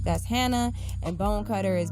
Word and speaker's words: Bonecutter: H that's Hannah and Bolin cutter is B oh and E C UT ter just how it sounds bone cutter all together alright and so Facebook